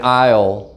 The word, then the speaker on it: isle: the word and so the s in isle is silent it's written down but you don't say it so this word is